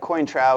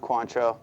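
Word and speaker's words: Cointreau: right here this is called quantro looks like quintra it is pronounced quantro this is the French orange lure and this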